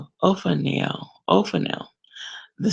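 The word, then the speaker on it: Ophaniel: of 0 for now i'm using the pronunciation right now Oh for now oh for now the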